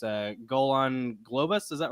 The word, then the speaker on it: Golan Globus: uh the goal I always forget how to pronounce their names uh Golan Globus is that right yep yep golden Globus yeah